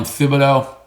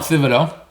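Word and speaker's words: Thibodeaux: Now whether they settle for Kayvon Thibodeau, I think that's how we pronounce it. I went and found out. Kayvon Thibodeau.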